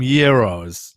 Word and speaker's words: gyro: babe let's get some gyros neros no it's usually hard g it's a very yeah it's a very hard g for the gyro um tony storm you